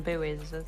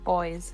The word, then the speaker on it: buoy: I think it's hilarious you call them buoys as well. What do you call them? Boys. Oh, yeah. That one actually, that's kind of a regional thing. I've heard them pronounced both ways.